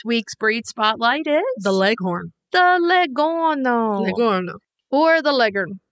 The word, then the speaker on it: Leghorn: breed spotlight is the leghorn the legono or the legend yes in certain regions of the country it's pronounced all different ways but it's the same